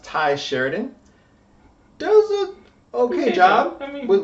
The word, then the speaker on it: Tye Sheridan: Starting right off the bat, I believe it's pronounced Tye Sheridan.